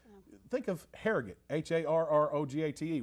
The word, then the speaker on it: Harrogate: like think of harrogate h-a-r-r-o-g-a-t-e we say harrogate not hair gate so i guess it's